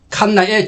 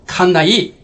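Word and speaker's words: Cannae: 말할 수 있는 선별자 칸나에 전투를 지금부터 보십니다 칸나 에라고 하기도 하고 칸나이 칸 네라고 발음을 합니다 그 당시에 카르타고는 이런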